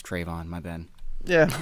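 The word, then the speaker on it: Trevon: I said his name wrong. It's Trayvon.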